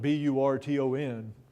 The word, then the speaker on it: Burton: And it's actually, in this case, it's spelled B-U-R-T-O-N. Even though the French spelling was usually B-R-E-T-O-N and is often pronounced Britain. In this case, it's Burton.